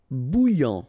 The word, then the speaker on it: bouillant: Bouillant, final T not pronounced. A and together, remember, nasal, en, okay? And then here you get bou, all right? And after that you get this yan, okay?